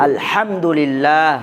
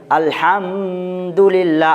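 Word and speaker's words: الحمد لله: আলহামদুলিল্লাহ আলহামদুলিল্লাহ আচ্ছা এবার এখানে কেউ যদি উচ্চারণ করে এভাবে আলহামদুলিল্লাহ আওয়াজকে এভাবে যদি ধরে নেয় তাহলে উচ্চারণটা ঠিক হবে না ভুল হবে বলেন ভুল হবে আওয়াজ ঠিক হয়েছে না ভুল হয়েছে ভুল হবে ভুল হবে কারণ এখানে মিম সাকিন আছে কিন্তু মিম সাকিনের পরে বাও নাই মিমও নেই যার কারণে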